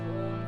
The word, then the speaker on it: Om: Let's do 3 rounds of Om together.